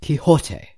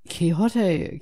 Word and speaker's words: Quixote: him Kate chaotic coyote just remember to pronounce his name right Quixote so Quijote coyote is an anthro